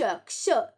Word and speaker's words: क्ष: ये क्ष, इसका उच्चारण करो क श, क्ष।